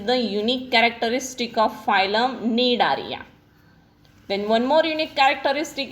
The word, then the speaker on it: Cnidaria: Coelenterata is the old name, new name is Cnidaria. C is silent, you have to read it Cnidaria.